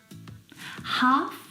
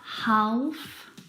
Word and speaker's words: half: like salmon not salmon half not half H would talk walk all of these words have a silent l in them which makes them a